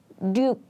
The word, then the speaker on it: 육: By the way, if you use 육 at the beginning of the word, we just say 육, but when this 육 comes in the middle of the word, we often pronounce it like 륙, 륙, 륙.